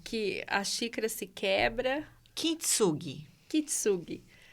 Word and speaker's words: Kintsugi: Como que pronuncia isso? Kintsugi. Kintsugi.